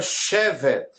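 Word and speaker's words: שבת: E temos a palavra Shevet, que é a mesma escrita, pronúncia diferente. Quando eu digo assim, Inematov manaim Shevet achi, ou Shevet achi gam yachad, Shevet é a mesma, ela usufrui das mesmas consoantes do que a palavra Shabbat, só que tem uma pronúncia diferente.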